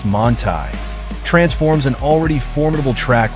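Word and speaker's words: Manthey: The Manthy kit, pronounced Montai, transforms an already formidable track weapon into something downright outrageous.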